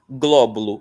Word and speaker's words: Glóbulo: Glóbulo, a sílaba tônica é gló.